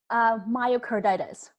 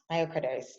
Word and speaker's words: myocarditis: Is it how you pronounce it, please? Myocarditis. Myocarditis.